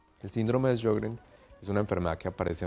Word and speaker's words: Sjögren: ¿Y cómo lo pronuncian los suecos? Sjögren, como Sjögren. CH, sí. Generalmente como si fuera una CH, síndrome de Sjögren.